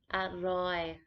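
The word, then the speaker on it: อร่อย: pit to be delicious at roy this is a falling tone but uh and again has the r which is pronounced often as an l or next to have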